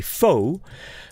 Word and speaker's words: foe: you are my foe the e is silent you never say foe e fo it's there but in this